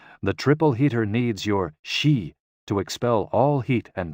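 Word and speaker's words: xi: associated with the spleen and x i pronounced like she which connects the whole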